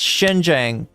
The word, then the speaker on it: Shenzhen: Is it Shenzhen? Shenzhen. Yes, Shenzhen. There we go. The X is like a sh.